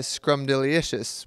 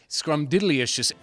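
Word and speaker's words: Scrumdiddlyumptious: Well, I'm personally subject to the Scrumdilicious Wonka Bar. This, now, it's so often mispronounced. Say it again. Scrumdilicious? No. It's Scrumdilicious. There's diddly in there. You gotta put the idly in there with the Scrumdiddlyicious.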